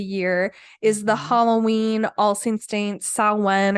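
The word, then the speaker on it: Samhain: is the Halloween Allstate saw one or it looks like Sam Hein if for how it's spelled but so it's typically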